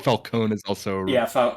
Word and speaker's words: Falcone: movie we we can go with the movie pronunciations if you want so it's Falcone and then it's uh Raz al Ghul so